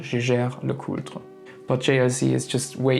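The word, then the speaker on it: Jaeger-LeCoultre: can tell you that I would pronounce the brand name Jeager-LeCoultre, but there's a slight problem because Jeager is actually a German name, so Jäger, which means hunter, but as it's a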